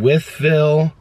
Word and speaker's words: Wytheville: Wytheville.